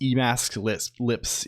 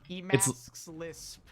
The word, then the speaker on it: Emacs Lisp: It's pronounced Emacs lips. Yes. Okay. That should do it now. So now if you you don't even need the thing, right? It's like this. Emacs Lisp.